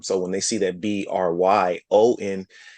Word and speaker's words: Bryon: So when they see that Bryon, they twist it to Byron and put the Hmm. BYR. And they say Byron. They look right at it. And I said, oh That's no, right. the R is right after the B. That's not Byron.